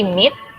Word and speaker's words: meet: We meet, ini double E-nya ada dua, dibacanya I ya.